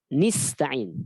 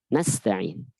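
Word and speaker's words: نَسْتَعِينُ: Karena qiraat syadz bacanya iyyaka nista'in dengan kasrah, nista'in, ya. Maka dikasih tahu jangan kasroh tapi harus fathah. Nasta'in.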